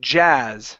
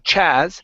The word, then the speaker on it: jazz: Let's practice the word jazz. So here you're pronouncing a CH. You're saying chaz. Instead of ch, it's j. It's a voiced sound. Jazz.